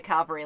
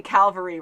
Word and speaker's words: cavalry: call him, the cavalry, like that was amazing, you know. And although we say cavalry wrong, cavalry.